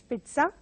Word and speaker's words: pizza: So again, mispronounced as pizza by many. They go by the spelling, but it has to be pronounced as pizza.